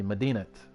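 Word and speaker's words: Madinat: and only Baghdad remained oh I pronounced the T medinat medinat medat medat Al Mansour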